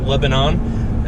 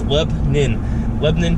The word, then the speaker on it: Lebanon: Outsiders call it Lebanon, but us locals, it's two syllables. It's Lebanon, PA.